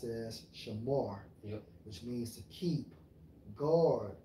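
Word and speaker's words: שָׁמַר: The Strong's H8104 pronounced as shamar, which means to keep, guard, observe, have charge of.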